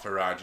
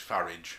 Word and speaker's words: Farage: like nigel farage yeah it's not for raj it's farage yeah rhymes with garage what can farage be